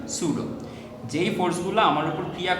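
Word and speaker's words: pseudo: এই ধরনের বলগুলোকে আমরা বলি সুডো ফোর্স, এগুলোকে আমরা বলি পিএসইউডিও। উচ্চারণটা কি? উচ্চারণটা হচ্ছে সুডো।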